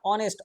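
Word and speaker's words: honest: যাই হোক, চলো তাহলে আমাদের এটা অনেস্ট, অ সাউন্ড হলো তাহলে কি হবে, অ্যান অনেস্ট।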